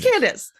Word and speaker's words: Candace: Candace. It's Candace. Yeah, it's Candace. Candace. It's Kansas with a D instead of an S after the N.